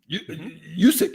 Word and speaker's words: Juszczyk: Juszczyk, yep. Juszczyk, yeah.